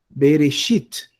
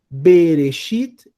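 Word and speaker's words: בְּרֵאשִׁית: Eu tenho reche com oere. Eu leio re. O alf não tem som. O shin tem som de X. Eu tenho aqui um hiikud. Leio como isso, ó. Berexi e um tave no final. Berexit.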